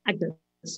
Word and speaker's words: Agnes: And in it, he gives her a very generous dowry, and he refers to her as my daughter Agnes, or Agnes, it would have been pronounced then.